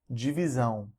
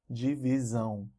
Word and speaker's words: divisão: S-I-O-N or T-I-O-N, and they're pronounced as either zão or são. Examples here: extensão, extensão, tensão, missão, missão, divisão, divisão.